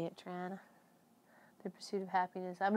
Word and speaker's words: Toronto: Toronto. You got to say it that way too. That's how the locals say it, Toronto.